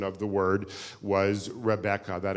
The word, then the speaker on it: Rebecca: of the word was Rebecca that it was three syllables not two syllables it seems that the